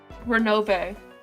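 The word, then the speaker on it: Ronove: How do you pronounce that? Renove.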